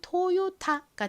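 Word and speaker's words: Toyota: 됩니다 그래서 요가 됐고요 다음 티는 티 소리는 아 소리로 읽죠 그래서 발음해 보면 토요타가 됩니다 토요타 한국에서는 토요타라브 이름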